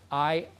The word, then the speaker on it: Iowa: And Iowa is spelled I-O-W-A, so it's like Iowa.